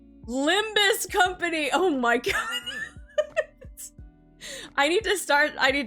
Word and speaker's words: Limbus Company: to start saying that it's not ligmas it's freaking limbus company oh my God I